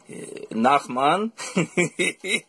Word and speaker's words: Nachman: And this is all you have to do is pronounce the name of Rabbi Nachman in this fashion. It's like this. It goes 1, 2, 3, 4. Nach. Nachma. Nachman.